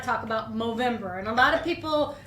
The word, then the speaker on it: Movember: did not talk about movember and a lot of people when they hear the word movember think why are you pronouncing November with an M because the charity is